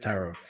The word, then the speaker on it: tarot: Sorry, I had to see that because she had a question about tarot. It's not pronounced tarot, it's said taro, which means root.